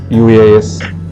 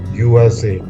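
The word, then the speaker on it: UAZ: us four-wheel drive vehicle uas I think it's pronounced as USA so it's a short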